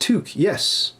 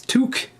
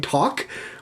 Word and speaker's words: toque: Wait, toque is pronounced toque. Yes, toque. T-O-Q-U-E, toque. Even en français, c'est toque. How have you been pronouncing it? Have you been saying talk? Or have you been calling it a talk you?